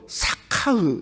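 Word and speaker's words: שכח: 잊어버렸다는 말이 히브리어로 보니까 원어적으로 사카흐 이렇게 발음하더라고요. 사카흐.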